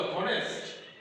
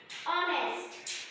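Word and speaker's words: honest: এটা কি তাহলে হনেস্ট? অনেস্ট।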